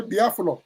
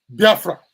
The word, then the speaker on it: Biafra: The Portuguese mispronounced it to be Biafra. You see the B-I-A is still there, but the flour, they pronounce it fra.